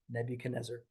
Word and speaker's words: Nebuchadnezzar: So remember that's spelled Nebuchad, Chad, Nezar, Nezzar, Nebuchadnezzar. All right.